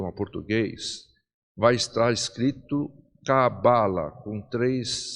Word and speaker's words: cabala: todo o curso a expressão mais comum que é cabala né dando a força da sílaba tônica No bar né porém Lembrando que Se